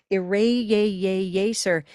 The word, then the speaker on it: eraser: Eraser is not eraser. That would be green tea eraser.